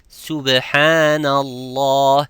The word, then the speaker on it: subhanallah: Like some would say, I hear some of my students saying subhanallah, it's subhanallah. It is not sub, it's subhanallah.